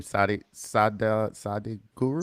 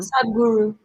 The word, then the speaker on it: Sadhguru: The book is Death by, I don't know how to pronounce his name. Sadi Guru. Sadhguru.